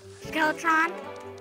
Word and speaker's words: Skeletron: Skeletron?